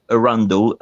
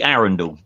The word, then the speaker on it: Arundel: tell you're way up north because you say Arundel in it's actually erendor Aaron's how it narrows pronounce arendelle with named after the river Aaron